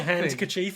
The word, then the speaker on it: handkerchief: But it's han, not hand. No, it's hand.